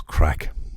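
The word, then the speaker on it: craic: right right it was crack it was called crack that's what we had all the time I know it's spelled c r a i c and that is the Irish word for fun fun and enjoyment um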